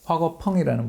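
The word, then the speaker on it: 화궈펑: 그런 과정들 속에서 이제 화거펑이라는 분이죠. 중국 발음으로는.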